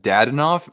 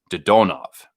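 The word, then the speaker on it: Dadonov: Even though it looks like Dadanov, apparently with Russian names, you most of the time you'll actually pronounce. You'll put the emphasis on the second syllable. So instead of Dadanov, it's Dodonov, or like Sorokin, for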